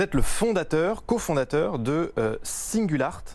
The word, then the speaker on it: Singulart: le fondateur cofondateur de singles art c'est comme ça qu'on prononce alors on est présent